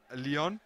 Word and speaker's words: Leon: Leon, whose name is spelled like lion and not pronounced like that. Fortunately, you said it first. I was going to say the lion entering the field. Is that the French pronunciation? Yeah, it's like Lyon, like the French city.